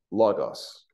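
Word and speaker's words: λόγος: Logos. Oh, yeah. Yep, like the computer Bible program.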